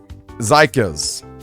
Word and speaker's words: Zykas: Zykas. Ez is in Ezreal.